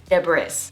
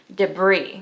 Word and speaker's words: debris: look at it and think the right pronunciation is debris or something like along the lines of that. But the actual pronunciation is debris with a hard I sound and no S sound.